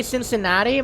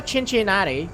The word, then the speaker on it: Cincinnati: it definitely Cincinnati right it's like a soft SE because somebody here can't say Cincinnati might as well no I think I think it is like a soft sea right Cincinnati is how you pronounce it like C yeah it's it's a Chinchin natti CH even that sounds weird not chin chinatti if it helps Oregon